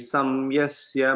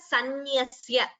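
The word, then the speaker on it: संन्यस्य: Ye tu sarvani karmani mayi samyasya matparaha ananyenaiva yogena mam dhyayanta upasate. Uttamam Mahodaya. This word we pronounce it as sanyasya.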